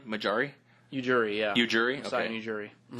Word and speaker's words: Ujiri: Ujiri, yeah.